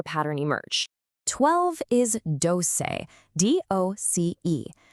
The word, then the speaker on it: doce: 12 is doce, D-O-C-E, pronounced doce.